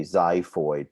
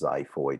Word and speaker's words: xiphoid: here and then a xiphoid process xiphoid is spelt with an x although it sounds like a z xiphoid process is the